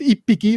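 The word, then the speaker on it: 一匹: phonetic nuance of japanese sometimes it turns into piki so for example ichi hiki becomes ipiki that's how you would pronounce it that is one animal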